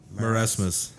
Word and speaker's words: marasmus: died from the Mara how do you say ma RA as marasmus marasmus and her husband died from